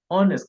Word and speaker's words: honest: nothing honest he's an honest man honest the word is honest not honest please not honest it is honest similarly what they let